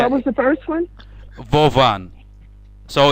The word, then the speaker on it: Вован: Their name are Vovon and Lexus. Lexus, and Yeah. what was the first one? Vovan.